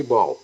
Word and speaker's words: Baal: A palavra bola em inglês se escreve Baal e ler-se Bal.